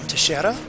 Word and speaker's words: Teixeira: because I know that in Portuguese it's pronounced Teixeira, but I don't know how it's pronounced in Spanish, and I'm pretty sure she's not Brazilian.